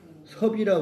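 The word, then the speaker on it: 葉: 엽자 엽자 이게 옆인데 고울 이름 이름이라고 할 때는 또는 성 이름 성으로 성으로 쓸 때는 섭이라 그래요 섭 아 그래서 공이 아니고 공입니다 나무 나무 잎인데 나무 입자인데 섭이라고 읽 땅 이름 고을 이름 지방 이름 섭입니다 그 그 지방에 그고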